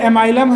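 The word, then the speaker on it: amylum: Actual में ये एमाइलम है, बट एमिलम हिंदी बोलते हैं इसको। हाँ, एमिलम बोलते हैं। एमाइलम लिखो चाहे एमिलम लिखो, दोनों सही है, स्पेलिंग ये रहेगा।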